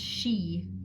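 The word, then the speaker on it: Sidhe: is a d the pronounced she s-h-e-e it's s-i d h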